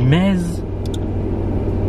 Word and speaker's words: Metz: Ben, il ne prononce pas le Z. Donc, ça qui ben, est... si, on dit mez.